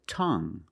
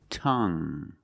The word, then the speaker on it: tongue: And we have this word, tongue. The UE at the end is silent, so we pronounce it like young. Tongue.